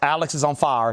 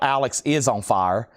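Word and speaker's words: Alexisonfire: Otherness, a 2002 USG on purple and pink vinyl pronounced Alex is on fire, not Alex is on fire.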